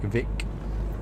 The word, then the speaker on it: Vik: Little places like Vik, which is spelled V-I-K, tiny little village really that is on the southern area of the island.